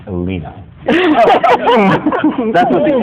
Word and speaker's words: Elena: York International Fringe Festival whose name is actually pronounced Elina and John clany co-founder and former co-artistic director